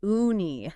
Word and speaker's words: uni: That's pronounced uni, right? Yeah. Ooni.